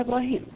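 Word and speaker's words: إبراهيم: حتى شوف القران مثلا كلمه ابراهيم في سوره البقره تكتب ابراهم بدنيا نقراها ابراهيم معناه ان الله حتى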